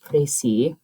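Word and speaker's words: précis: uh to write a prey it's pronounced pry it's a French word um which is a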